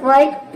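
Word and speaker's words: bird: है ये हो जाएगा वर्ड वर्ड मींस होता है पक्षी तो आपने समझ लिया कि जद यदि आई के बाद आर आ जाए तो आई को हम अ प्रोनाउंस करते हैं चलिए नेक्स्ट रूल देखते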